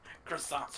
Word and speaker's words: croissant: bed any other it's not pronounced cross it's pronounced cant and you ate four of them croissants are delicious love my cars gotta get rid